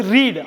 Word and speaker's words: read: இந்த READயை ரெண்டு விதமாக உச்சரிக்கலாம். ஒன்று வந்து ரீட், READ படிக்கிறது.